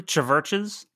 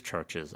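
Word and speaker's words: CHVRCHES: and that it is churches i just because they spell it with a v i know it's weird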